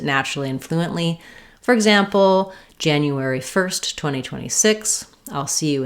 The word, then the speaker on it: January: Break it down syllable by syllable, saying it slowly, but keep the rhythm the same and then speed up. That sounds like January, January, January.